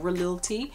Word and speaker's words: Khalil: I heard that the KH in Arabic is pronounced as a R, so it's like Khalil T.